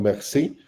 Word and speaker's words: Marcy: Después tenemos la técnica francesa de Marcy, ¿no? Los franceses le pronuncian Merci, es la técnica de